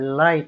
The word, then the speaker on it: light: For example, in the word light, LIGHT, you simply forget about G. You don't pronounce G.